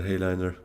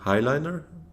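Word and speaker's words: Heighliner: I heard it's actually supposed to be called Highliner, so I'm not sure. I'll try to change my pronunciation, I guess, but kind of got used to just calling it Hayliner because of that E, but apparently it's Highliner.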